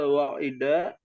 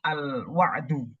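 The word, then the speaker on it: الوعد: Iya, wa minhal wa'ida bil jannati. Ya, itu bacanya al-wa'du. Ya, bacanya al-wa'du.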